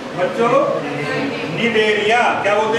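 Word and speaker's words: Cnidaria: सी एन आई डी ए आर आई ए, इसमें सी silent रहता है बोलने में, कुछ बच्चे ऐसे होते हैं सी निडेरिया कहते हैं इसको, निडेरिया होता है ना, एक आध बच्चा ऐसा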